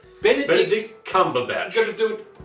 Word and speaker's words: Benedict Cumberbatch: Bender Snatch Cumber Bun.